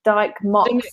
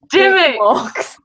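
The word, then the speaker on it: Dymocks: Dyke Mox Books. And how you say it? And I wouldn't say Dick because I used to pronounce it Dick Mox.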